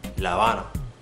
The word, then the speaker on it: La Habana: It's either gonna be Cuba or La Habana. Cuba, La Habana. So you see, I don't pronounce the V or B sound at all when it's in between those vowels.